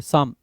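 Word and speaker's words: psalm: साम, ठीक है, साम। इसमें पी भी साइलेंट है, एल भी साइलेंट है, ठीक है।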